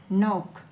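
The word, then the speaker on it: knock: किसी किसी भी जो नोक यहां पे केस साइलेंट है नोक खटखटाना विदाउट लुकिंग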